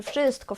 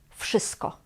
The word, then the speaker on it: wszystko: Tak naprawdę w tych wszystkich słowach, o których dzisiaj mówię, wymawiamy jak f, więc wszystkich, wszystkiego, wszystkich i tak dalej.